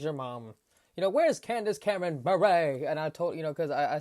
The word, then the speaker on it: Bure: I'm like, Natasha Bure, what? And she was like, because everyone, she said, always gets the beret messed up. They say Bure.